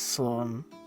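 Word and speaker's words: slán: hailer or safe journey at home one day that would pronounce it as sloane okay slow and loses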